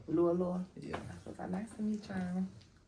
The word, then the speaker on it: Lua Lua: How you pronounce Lu Lua? Lu Lua? Lu Lua. Lu Lua.